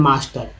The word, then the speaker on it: master: MASTER, ए का उच्चारण यहाँ क्या हो रहा है, आ के रूप में, क्या बोल रहे हैं, मास्टर।